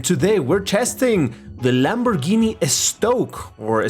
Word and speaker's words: Estoque: we're testing the Lamborghini estoque or stock as you're kind of supposed to pronounce it in Spanish but yeah we're gonna